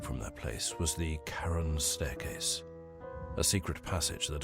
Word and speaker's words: Charon: is my story okay so it's not Sharon staircase but Karen staircase okay I was wrong